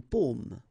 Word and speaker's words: paume: Okay, so you can see that I pronounce them a little bit, a little bit differently, but then well, be careful that in many cases people will pronounce them the same way, okay, because in that case normally it should be a bit lower, pomme, and then here more open, so pomme, okay.